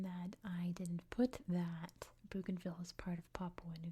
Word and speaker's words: Bougainville: like that, but uh I speak American English, so I'm going to pronounce it in American English, which we say Bugenville. That's how I'm pronouncing it. Bugenville.